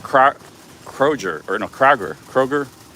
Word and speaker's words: Kroger: name of the store kroger kroger okay i was saying it wrong a lot of people including myself say kroger's but there's technically not an s okay just kroger yeah okay i was